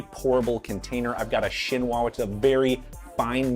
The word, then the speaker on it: chinois: I've got a chinois, which is a very fine mesh strainer. It's spelled like chinois if you're looking to buy one, chinois.